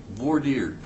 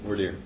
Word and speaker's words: voir dire: Voir dire is the pronunciation of that.